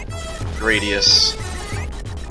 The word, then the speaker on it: Gradius: My understanding is that it is actually supposed to be inspired by the word gladius. The ambiguity there was actually intentional, so it should actually rhyme with it. It should be Gradius.